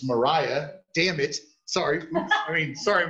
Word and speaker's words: Mariah: the yard and it says i'm bad at pronouncing your first name it's myra it's mariah dammit sorry i mean sorry dang it